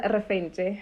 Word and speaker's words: Refentse: okay hey guys um my name is reference other people pronounce it as references yes um yeah either way potato potato same thing yeah um yeah i